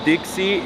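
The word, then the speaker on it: 的士: Taxi is pronounced pronounced Dixie in Cantonese.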